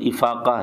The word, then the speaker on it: افاقہ: باتیں ہی غلط ہیں۔ اصل میں بھی افاقہ لفظ ہی تھا اور اردو میں بھی اس کا اصل تلفظ افاقہ ہی ہے۔ باقی افاقہ بعض لوگ پڑھ دیتے ہیں، جیسے کتاب کو بعض